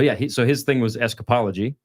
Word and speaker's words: escapology: But yeah, so his thing was escapology, right? Escapes. Escapology? That's the word That's for the it? fancy word for it. Whoa. That is pretty fancy. You mean Which I think- escapeology? Yes, escapology.